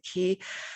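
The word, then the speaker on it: 기: In Korea, it's very common way to say Chi, how is your Chi or your ki? In Korea, we pronounce it ki.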